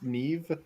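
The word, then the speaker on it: Niamh: It's like Irish names like N I am a MH somehow pronounced as Neve. Like where does M and H make a V sound?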